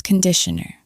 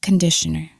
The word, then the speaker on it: conditioner: This is shampoo, and this is conditioner. Be careful of the pronunciation. It's not conditioner. It's conditioner. The first vowel is conditioner, conditioner.